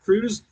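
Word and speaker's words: Kruse: Jack Cruz. Make sure you binge watch him and it's spelled with a K, okay?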